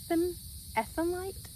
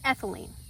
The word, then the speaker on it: ethylene: But the chemical compound that happens is called ethanite. Sorry, I had to go take a pause to go look that up because I knew it was saying it wrong. It's ethylene.